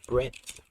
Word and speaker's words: breadth: Depth first search, and can't forget about breadth first search. I can't pronounce it properly because I'm stupid, but yes. It's breadth, not breadth. With a D.